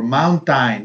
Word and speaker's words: mountain: look at the spelling AI okay many people pronounce mountain or Mountain no mountain the AI sounds like schu Mountain